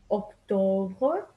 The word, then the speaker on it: octobre: Septembre, Octobre, Novembre, Décembre. Remember that it's not September, November, December, it's bre.